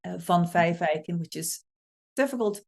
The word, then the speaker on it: van Vijfeijken: is it's named after my Dutch last name Von Fife eikin which is difficult to pronounce but in Dutch it it literally means